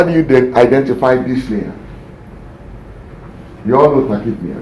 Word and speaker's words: dyspnea: Difficult respiration is what we call dyspnea. It's not dyspnea, it's dyspnea. The P is silent.